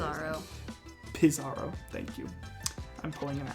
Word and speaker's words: Pizarro: Pizarro.